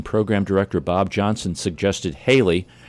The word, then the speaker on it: Haley: director Bob Johnson suggested Haley rhymes with Bailey take advantage of the